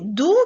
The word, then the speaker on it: doux: Vous avez doux qui s'écrit avec un X, blanc qui s'écrit avec